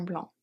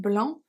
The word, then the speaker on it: blanc: petit t is silent and blanc is silent of cours nous rejoignons